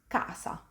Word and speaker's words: casa: Anytime you have Chi and then A together, you just pronounce K sound followed by the A sound, as I've explained, to create Ka.